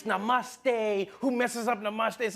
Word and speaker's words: namaste: on like dude it's not namuste it's namaste who messes up namaste